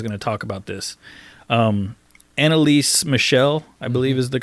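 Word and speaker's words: Anneliese Michel: Annalise Michel, I believe is the correct way to pronounce her name.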